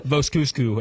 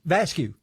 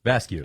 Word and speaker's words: Vascocu: Alyssa vasu is one of them yeah ala V cusu is what I originally called her the very